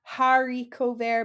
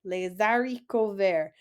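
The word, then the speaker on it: les haricots verts: long word lesari cover remember that H is silent so it's not hariko ver but AR Rico there like you're starting with the a lesarico there so Les dariko ver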